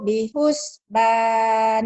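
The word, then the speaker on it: بحسبان: Runya pendek ya. Wal Wal qamaru bihus. Bihus. Ingat. dan Nyamber bacanya aja. gitu aja ya. Ah, ah. Wal qamaru bihusban. Nah, mendingan begitu bener. Wal qamaru bihusban. Bihusban. Bagus, nggak ada e-nya.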